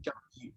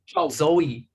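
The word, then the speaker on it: 周易: also refer to this book as another name, Zhou Yi. Okay. Bien, lo que dice Donald es que bueno, el libro que llamamos I Ching también se lo conoce como, how do you pronounce it? Zhou. Zhou Yi.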